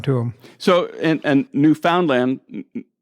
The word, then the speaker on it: Newfoundland: newfoundland uh island and that's pronounced new found land understand new found land because we too off way too often slur when we go newfoundland and if you live there it's new found land so remember that when